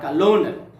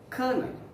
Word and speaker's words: colonel: the indian army okay pronounce this word as kernel not colonel okay the next one